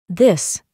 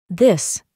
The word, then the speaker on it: this: Pero presta atención a la pronunciación de estas dos. This. These. This. These. ¿Notaste la diferencia?